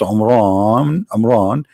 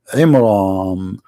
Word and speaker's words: Imran: the name wrong, because it's not Amran, it is Imram, which means the last letter is M, not N.